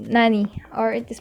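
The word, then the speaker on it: なに: by particles or nani gene it is called nani or it is pronounced as nani that's all thank you for watching and listening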